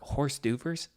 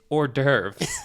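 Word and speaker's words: hors d'oeuvre: And he goes, he's like, "Did you guys see that sign out there for horse doers? I have no idea what horse dovers are." And we're like, "Horse doers?" And he's like, "Yeah, it's spelled super weird. Horse doovers." And our coach goes, "Dude, it's ordurve."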